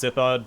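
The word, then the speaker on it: Sithhud: I know it's pronounced Sithod, but I'm partial to Sithud myself.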